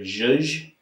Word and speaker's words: zhuzh: Although sometimes I hear people say the word zhuzh, and I think that's kind of a special word.